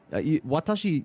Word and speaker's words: Watashi: Watashi, you definitely say the W because the W at the start of words is pronounced.